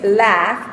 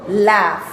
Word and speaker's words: laugh: Aquí tienes laugh, que es reírse. Note que termina en las letras G y H, pero el sonido es F, laugh.